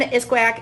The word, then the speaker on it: iskwêwak: Iskwêw is one, iskwêwak is multiple, so I finally learned how to pronounce it properly.